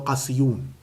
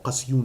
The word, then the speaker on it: Qasiyun: Every year, the Abdal meet near Jabal Qasiyun, or Qasiyun, it's two different pronunciations they have for it.